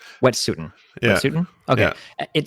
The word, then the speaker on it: Wet'suwet'en: Do you know how to pronounce the name of their tribe? It's Wet'suwet'en. Wet'suwet'en.